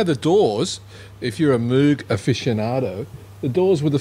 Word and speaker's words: Moog: article you know that that movie is supposed to be pronounced more like mode both of them are acceptable Robert Moog Robert Moog says that parts of his family pronounced at mug but it's a northern European name anyway so yeah and his family pronounced it alternatively so it doesn't really matter okay very nothing so tell